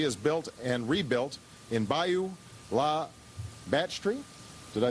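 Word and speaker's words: Bayou La Batre: clinic that she has built and rebuilt in Bayou La Batterie. Did I say that right? Well, tell me how to say it. Bayou La Batterie.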